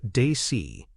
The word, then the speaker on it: DACE: DACE, pronounced Dacey, focuses on decision roles,